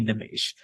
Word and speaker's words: Nimesh: she's actually Indian, and she pronounces my name the way that actually it should be pronounced in Hindi. So my name is it's an Indian name, and it's actually pronounced Nimesh. So the E is an A sound.